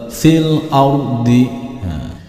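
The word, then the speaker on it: فِي الْأَرْضِ: Hamzah wasol di sini tidak dibaca ketika kita membacanya dari sebelumnya. Berarti fil ardi. Jadi begitu membaca fil langsung dimasukkan ke dalam huruf yang di depannya hamzah wasol, yaitu di sini huruf lam.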